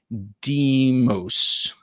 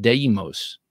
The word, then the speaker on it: Deimos: Christine was carrying the Alliance Design Deimos again today. I know what it looks like. Can't pronounce it. How do you pronounce that? Deimos.